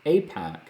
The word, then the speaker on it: AIPAC: I met the congressman through APAC, a cause that I deeply care about. You can find me at the APAC Policy Conference every year, and APAC is spelled AIPAC.